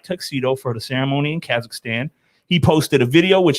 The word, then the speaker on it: Kazakhstan: so we're gonna go all the way to where Borat is from, Kazakhstan, right?